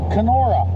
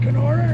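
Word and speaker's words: Kenora: we headed to can k o r a canora yes it's about 2 and 1/2 hours and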